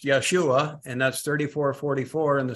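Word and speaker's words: ישועה: thus saith the Lord keep you judgment and do justice for my salvation that's interesting word salvation there it's pronounced Yeshua and that's 344 in the strongs for my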